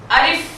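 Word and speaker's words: ألف: করুন আলিফ আলিফ আলিফ আমি যখন আলিফটা উচ্চারণ করছিলাম তখন আমার উপরের দাগ নিচের ঠোঁটের পেটে এসে সর্বশেষ লাগতে ছিল যেমন আ লিফ আ লিফ সবাই আমার সাথে একসাথে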